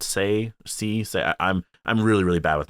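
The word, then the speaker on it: Tse: It's spelled T-S-E, so is that Say?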